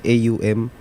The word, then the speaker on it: AUM: Ang OM po kasi sa original po talaga niyan is AUM. Oo nga, Which is AUM. yung Actually, ang bigkas dyan na AUM.